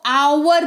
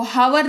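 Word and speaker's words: hour: तो आवर पढ़ते हैं, इसको हावर नहीं पढ़ते हैं, इसको आवर पढ़ते हैं, ठीक है।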